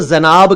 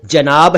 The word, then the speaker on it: जनाब: मैंने देखा है कि कई लोग इसको जनाब कह देते हैं, ऐसा प्लीज ना किया करें। यह शब्द जनाब है, यानी इसमें भी ज के नीचे नुक्ता नहीं है।